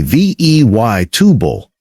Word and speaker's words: vegetable: Now this one surprises people because it looks like it should have 4 syllables, veg-e-tabul. But native speakers say vey tubal, 3 syllables. That middle E drops out completely.